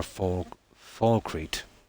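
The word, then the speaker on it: Falkreath: It's the very first one you get from Fall Creek or Falcrete. That's how it's pronounced.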